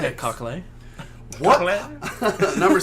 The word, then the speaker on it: Cockle: It's spelled cock with an L-E at the end, so there's only one way to pronounce that. Number 6. Yeah, Cockle.